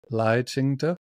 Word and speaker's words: Lai Ching-te: And we'll go from Tsai Ing-wen to, is it Lai Ching-te, is how you say his name?